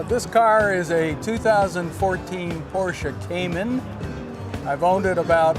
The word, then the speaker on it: Porsche: So what I'm going to do, we're going to discuss today this absolutely beautiful Porsche. Or if you're from Brooklyn, we say Porsche. It's two syllable word.